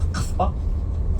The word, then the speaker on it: Kasbah: So, Kasbah, which is the right pronunciation, means bamboo tree.